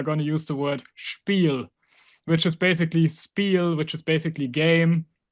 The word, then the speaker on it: Spiel: it's getting written Spiel, and it gets pronounced with sch, so basically sh instead of spiel. And many Right. people say spiel.